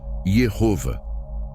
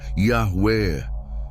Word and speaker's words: Yahweh: à consoantes e Javiá, criando uma pronúncia híbrida impossível, Jehova. Depois, tradutores latinos transformaram isso em Jeová. Mais estudiosos bíblicos e linguistas concordam. A pronúncia original era Yahué.